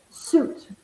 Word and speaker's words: suit: and we pronounce it suit that's it remember when you find you I achieve a lot of times it has this boot sound so for example fruit or juice ok exit it's Friday